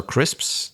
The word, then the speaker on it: crisps: A lot of native speakers will will not bother to pronounce them very well because they have that consonant cluster of SPS at the end.